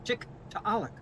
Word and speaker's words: Tiktaalik: the native language it's tick to alec and i am told that you would pronounce all the letters so this double a is a oh it's a wonderful glottal stop so for all of